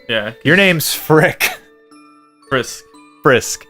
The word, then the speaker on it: Frisk: Oh, it's Frisk. Why did I think it was Frick? Frick. I don't know, Zach. But anyways, we should have named the character Frick or Frisk. 3 times I said it wrong.